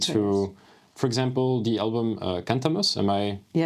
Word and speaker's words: Cantamus: I listened to, for example, the album Cantamus. Am I pronouncing that correctly?